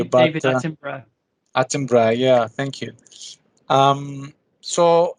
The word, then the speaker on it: Attenborough: I can never pronounce his last name correctly, but David Attenborough.